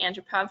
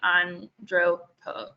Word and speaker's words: Andropov: And I also got a private message about how, I think I was pronouncing Antropov wrong. It's, and correct me if I say this wrong again, but it should be Andropov.